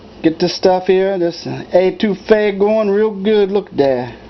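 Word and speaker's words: étouffée: with you all right that crawfish A2 f is I I can't even pronounce it sometimes and it's nothing like it's spelled it it it sounds like a to Fay and it's really it's spelled totally different and I'll put that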